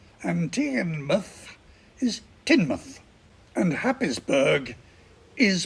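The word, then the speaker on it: Tynemouth: kirkubri Leo minster is lemster and tianmouth is tinmouth and habisberg is pronounced hayesboro while we're on the subject of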